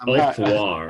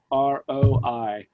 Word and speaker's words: Onfroi: You said it, and I'm Onfroy. it's Onfroi. Onfroi.